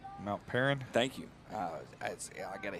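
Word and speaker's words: Mount Paran: About 3 minutes left to go in the football game here, live from Mount Parnham. If I pronounce it wrong, please correct me. I do not get offended. Mount Perrin.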